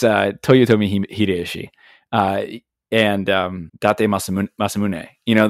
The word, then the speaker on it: Toyotomi Hideyoshi: Oh God, I can't even pronounce his name sometimes. Hideto Tomoyoshi. Oh my goodness, the guy that's on the I want to say, is it the Ichiman? No. Senen? No. It's Toyotomi Hideyoshi and Date Masamune.